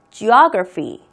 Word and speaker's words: Geography: 그 다음 지리는 Geography. Geography. 액센트는 여기 가는 거죠.